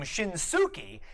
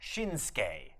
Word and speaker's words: Shinsuke: So if you've ever been wondering, why don't they pronounce Nakamura's first name Shinsuke, it's because that U also gets suppressed in the pronunciation. It comes out Shinsuke.